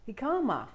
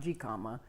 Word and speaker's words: jicama: what is ahikama it's spelled j-i-c-a-m-a and it's pronounced hikama not g comma it's a root and it is a crunchy